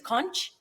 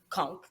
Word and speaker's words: conch: called conch yeah on caribbean people would say pronounce it as conch but it's conch okay and we love our conch and for